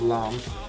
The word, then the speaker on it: lame: It's spelled lame, but it's pronounced lamb.